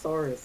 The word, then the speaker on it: Saris: Have you ever heard of the word Sarissa? Just get rid of the Issa and that's how you say Saris.